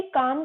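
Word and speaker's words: calm: जाता है झाल ए वैरी काम को बोलेंगे काम में लव साइलेंट रहता है वैरी काम कि सरीन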